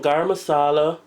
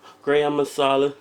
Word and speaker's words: garam masala: grown them myself and some garam masala gram masala depends on how you want to pronounce it so it's about a